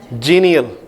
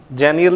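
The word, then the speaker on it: genial: फिबल fifth जीनियल। जेनियल नहीं जीनियल।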